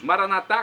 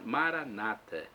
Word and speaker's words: Maranata: significa vinde Senhor Jesus Maranata com a tônica na última sílaba como nós dizemos nós católicos pronúncia diferente das dos Protestantes ou evangélicos que colocam a tônica na penúltima sílaba Maranata não importa a pronúncia